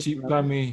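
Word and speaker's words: क्षिपामि: KSI is pronounced as chi. Yeah? Chipani ajasram Chipami.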